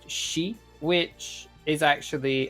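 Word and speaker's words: 四: Japanese can be pronounced she which is actually which has the same sound for the word for death and then you have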